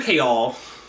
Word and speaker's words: Chaol: to not kayle k all his name is chaol like that's what pronunciation guide says i listened to the audiobook for like three seconds before i returned it his name is chaol so mr k all he was out here nesrin love nestrin irene